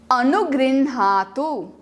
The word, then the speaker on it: अनुगृह्णातु: ह के अंदर अण लिखा है तो ह को आधा बोलना है, अण को अच्छे से बोलना है, फॉलोड बाय आ. णा.